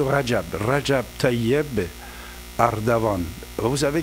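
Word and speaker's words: Recep: Là aussi le nom de Rajab Tiban jamais il faut pas le bien prononcer de temps en temps j'entends qu'on dit rassap rassapand voilà tout monsieur Rajab Rajab Tayb Ardavan vous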